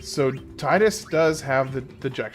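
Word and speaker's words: Tidus: goals just to get Titus some some experience. Oh, and by the way, for all those that are here, I know that his name is technically pronounced Tetus.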